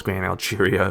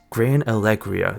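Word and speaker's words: Gran Alegria: was like Grand alaria I thought it was gr Algeria but no it's Grand G no wait it's Grand Allegria that's what it is it's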